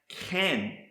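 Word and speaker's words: כן: next word I want to show you is pronounced can and it means thus so it was so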